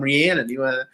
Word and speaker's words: Rhiannon: Looks like we have an excellent question from Rhiannon. Yes, I said it right this time. I finally got it. Every time Claude always tells us, it's like the famous singer.